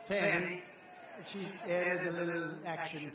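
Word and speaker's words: Fani: But one after another, you had Fanny, F-A-N-I, which is usually pronounced Fanny.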